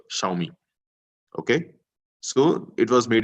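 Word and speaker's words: 小米: to read this is X is sh xiaomi okay so it was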